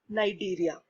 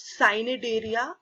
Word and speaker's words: Cnidaria: go Ellen Tara or Nigeria commonly it is not sign it area it is Nigeria see is silent now we have heard